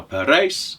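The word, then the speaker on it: Parijs: the city of paris now per race is the flemish pronunciation for paris but as he said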